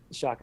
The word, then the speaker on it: Shaked: Tal Shaked, Shaked, Tal Shaked. Right, Tal Shaked, I think. I remember Shaked is how you pronounce it, but I remember when